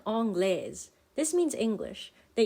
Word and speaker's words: anglaise: The E is silent, but it still tells us that the S is pronounced.